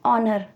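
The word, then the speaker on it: honor: कर लिया ठीक है अब एन ऑनर अब अगेन ओ की साउंड आ रही है एच साइलेंट है ओ की साउंड आ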